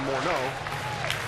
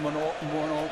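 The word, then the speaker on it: Morneau: balls to strikes to Moro that's the way he prefers to hear his name pronounced for years and years we said Justin morau prefers more out remember he was he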